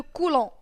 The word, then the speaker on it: coulomb: L'unité pour laquelle s'exprime la charge c'est le coulomb. تتكتب coulomb mais البي ما تتنطقش.